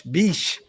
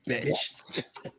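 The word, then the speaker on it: Bech: So that's Genty, Jack Beck, or Beach, however you want to say it. Darian Porter, Caleb Rogers, and now Charles Grant. It's Zach Betch. Betch.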